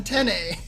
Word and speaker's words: Tene: When I first saw him at Arc Revo, he was like, by the way, James, it's Jonathan Tene. Tene. The accent is on the first part.